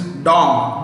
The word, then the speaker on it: dong: Currency is dong, D-O-N-G, dong.